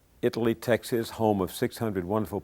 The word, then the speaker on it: Italy: There's a little town between Dallas and Waco called, I pronounced it Italy. I think the residents pronounce it Itali.